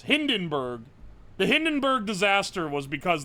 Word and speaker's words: Hindenburg: So that that's basically what happened in the Hindensburg disaster. Sorry, I said it wrong. What is it? There was a German in here earlier giving me for this. Hindenburg.